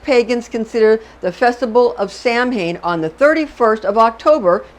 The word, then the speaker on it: Samhain: It's equally fascinating to become aware that the Celtic pagans consider the festival of Samhain on the 31st of October, Halloween, Samhain.